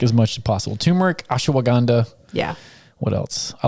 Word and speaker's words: ashwagandha: I add a lot of syllables. Yeah, I do too. I've already added the syllables and I just say it the way I say it. You're like, it doesn't matter. But I reread the word the other day and I was like, well, Andre asked me how to spell it. So I was like, okay, I got the bottle and I was like, I think I'm saying it wrong.